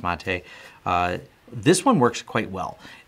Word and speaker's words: MATE: But the Mate desktop, which I believe is pronounced Mate, this one works quite well.